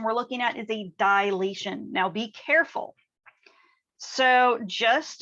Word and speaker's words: dilation: what it is but a lot of people pronounce this as dilation and really when we're talking about geometry we don't have that extra a in there it's just dilation so keep that in